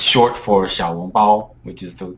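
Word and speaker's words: 小笼包: But I personally hate that word because I feel like it should be pronounced, it's short for 小笼包, which is the correct way to pronounce it.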